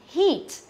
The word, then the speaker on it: heat: Đó, thế còn riêng cái phương án B và C thì hay đọc thành âm ngắn nhá. Đọc lại này, âm dài và đọc là gì? Heat. Thế còn cái này là seat, nhớ chưa?